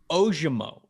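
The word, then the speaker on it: Ojomo: one more I got one more guy um ojumo is how you say his name offensive lineman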